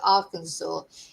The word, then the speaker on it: Arkansas: pronounced uh is spelled R Kansas but you pronounce it Arkansas in the USA.